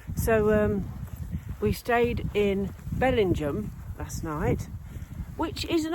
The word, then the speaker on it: Bellingham: 12 yeah yeah so um we stayed in Bellingham last night which is an odd pronunciation because it's spelled Bellingham but no it's pronounced Belling Jam um uh Dees is it Farm site lovely